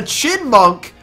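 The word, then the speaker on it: Chyinmunk: We got School Kid Jack with a Chinmunk. Remember, the Y is silent.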